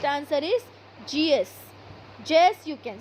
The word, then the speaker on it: Zeus: Zeus, you can say. You can pronounce it as Zeus.